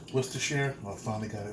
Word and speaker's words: Worcestershire: I know I pronounced this wrong. Worcestershire.